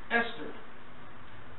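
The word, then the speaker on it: Ishtar: seeis became known as istar which is pronounced Esther and her Moon egg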